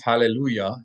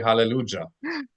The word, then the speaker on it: hallelujah: of like how Christians, you would never think to pronounce hallelujah as a Y sound because they write it with a J. You would expect them to say hallelujah.